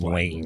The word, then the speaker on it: Lange: One of those names is Detroit Tigers right-handed pitcher Alex Lange. Is it Lange or Lang? Just Lange. I believe it's just Lang.